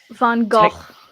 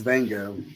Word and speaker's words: Van Gogh: I say it like Rango. I just say it's Vango. It's Vango. Like Rango.